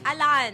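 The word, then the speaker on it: Alain: So ang right pronunciation talaga ng pangalan ko Alan. Alon pero ang spelling A L A I N. Pero yun talaga ang pronunciation. Pronunciation kasi French siya.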